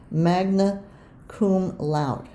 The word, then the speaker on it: magna cum laude: He graduated from Harvard, magna cum laude. And I had to look up how to pronounce that, and I believe I did it right.